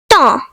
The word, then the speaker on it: temps: The next French word is temps, meaning time. The silent letters are P and S.